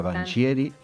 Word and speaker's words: Vangieri: Estamos con Viviana Banchieri, así se pronuncia, ¿verdad?